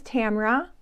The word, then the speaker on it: Tamara: warm welcome to you my name is Tamara rhymes with camera I am a 63